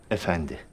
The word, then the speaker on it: Efendi: 'Efendi.' E-fen-di It has just three syllables.